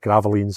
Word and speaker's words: Gravelines: up near Dunkerk uh in a place called Graalines, I think is how you pronounce it. Gravelines is how it spells, but Graalines, I believe, is how you you say it.